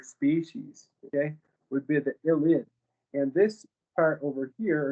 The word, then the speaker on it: ylide: Let's look at the ylide. The Wittig reagent is a phosphorus ylide, that's how it's pronounced, in which a carbon atom acts as a nucleophile.